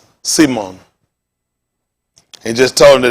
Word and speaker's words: Simon: Pronounced S-E-E-M-O-N. Simon.